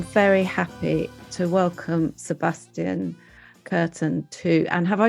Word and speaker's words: Kurten: today I am very happy to welcome Sebastian curtain too and have I said your surname correctly